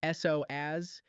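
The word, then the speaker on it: psoas: The sois muscle, it's pronounced s oaz, is one of the deepest muscles in your entire body.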